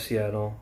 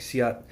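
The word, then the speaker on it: Si'ahl: learning the history of Seattle. And like, it's not really Chief Seattle, it's Chief, I think, Siat, and I might be pronouncing that wrong, but like, and it's Duwamish, not Duwamish.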